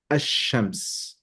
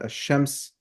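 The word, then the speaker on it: الشمس: if you know that ash-shams again represents the divine essence, and the moon represents the manifestation, the mirror, then that kind of tells you why the lam is not pronounced in the sun, in the case of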